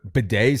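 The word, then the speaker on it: Badie: It was baddy in college and then in the NFL he went to bed.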